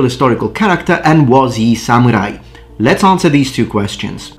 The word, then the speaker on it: samurai: Or should I say, just before people accuse me of not knowing how to pronounce Japanese, samurai. Okay, I've said it once the proper way in Japanese, now I'm just gonna say it in English. On this video, I will